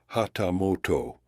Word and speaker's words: hatamoto: 250 Koku placed Adams on par with the hatamoto pronounced hatamoto one of the higher ranking retainers who served the shogun directly and held the privilege of a personal audience with him.